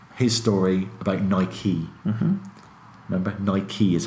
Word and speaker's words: Nike: Ni-kee is how you pronounce it.